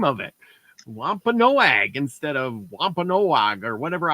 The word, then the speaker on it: Wampanoag: Wampanoag, yes.